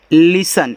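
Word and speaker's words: listen: इसको पढ़ते हैं लिसन। इसको लिसन मत पढ़ना। लिसन पढ़ना। तो यहां आपका देखो ये आपका यहां पे टी साइलेंट रहेगा।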